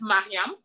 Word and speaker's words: Mariame: And so my name is spelled M-A, and that's Mariam. But if you spell it M-E, it's Mariam. Okay. And then there's M-Y, which is Miriam.